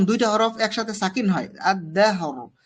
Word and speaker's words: الدهر: আমরা শেষের হরফটাকে 3 ভাগের 1 ভাগ অবশ্যই উচ্চারণ করব। আদ-দাহ, দাহ, রর মাখরাজে লাগাইতে হবে। আদ-দাহর, আদ-দাহর, কেমন।